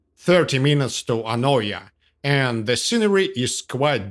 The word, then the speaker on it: Anogia: And yeah, it is written in English as Anogia, but it is pronounced Anoia. I'm not sure the locals would understand you if you said Anogia.